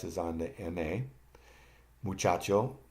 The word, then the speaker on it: muchacho: Muchacho, the accent is on CHA.